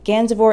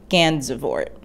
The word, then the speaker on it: Gansevoort: had a military fort that bore his name gandavor is pronounced ganzevoort once you master saying skermahorn the pronunciation of